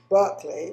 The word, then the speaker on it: Berkley: me his name is barkley um he pronounces it berkeley but in england we pronounce it sparkly so